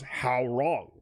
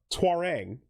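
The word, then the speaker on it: Hwoarang: The old announcer literally goes, "How wrong?" Wins. Okay. And like that's not how the name is pronounced. Yeah. Twarang. But he says how wrong.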